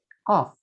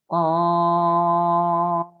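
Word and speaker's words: ق: Misalnya ada huruf qaf, ada tanda benderanya di atas. Maka dibacanya qaf. 6 harokat. Qaf. Qaf. Jadi bukan ko, tapi qaf.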